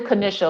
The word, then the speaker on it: Kanisha: It's actually Kanisha, like the Jewish pastry of Kanish.